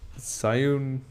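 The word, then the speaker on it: Zhiyun: pretty good option so how you pronounce it it's zun zun it's just like my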